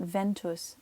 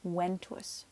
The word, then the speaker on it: ventus: of the fact that in Latin when you see a V you're gonna pronounce it like a W all right remember these make W sounds okay so it's not Ventus event E it's when